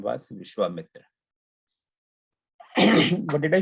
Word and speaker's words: Vishwamitra: So it's a Vishwamitra, but when use our this American British English accent, we end up saying Vishwamitra. But it's not really Vishwamitra, it's Vishwamitra.